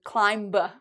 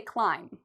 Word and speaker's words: climb: Well, the first rule with the silent B is we don't pronounce B when there's an M before it. Okay, so you notice B, MB. If you see an M and a B right after it, the B becomes silent. So we don't ever say climb. No. We say climb. For spelling, we have the B, but for pronunciation, we don't.